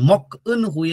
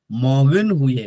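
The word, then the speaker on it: 먹은 후에: अनि हुए गरेर गर्दा यसको उच्चारण मक अन हुए होइन कि मगन हुए।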